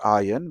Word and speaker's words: iron: So iron is not or this is pronounced iron with the letter R silent.